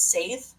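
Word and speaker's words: seiðr: We call it Saith in the modern time because it's the original pronunciation. What was it? Seder, but that's like a Jewish thing. That's their thing. That's not our Oh, thing. okay. So it got modified to Saith because language changes.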